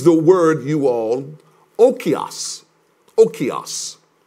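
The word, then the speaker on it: οἶκος: Oikos. It's spelled O-I-K-O-S.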